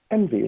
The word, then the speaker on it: MV: name of the company the letter M the letter V is how it's spelled but it's env like envious because we're a sales consulting